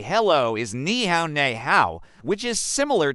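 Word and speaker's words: 你好: You pronounce it by first saying ni, which is the same sound as a knife, then add hao, which rhymes with cow.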